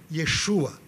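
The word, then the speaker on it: ישוע: você não encontra lá Jesus ou Jesus, é Yeshua. Esse é o nome original, como se pronunciava o nome de Jesus na época.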